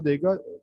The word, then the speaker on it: the: जब wall sound से पहले आप इसको यूज करेंगे तो ये वी की शॉर्ट सी साउंड देगा, इसको लंबा नहीं करेंगे, वी नहीं करेंगे।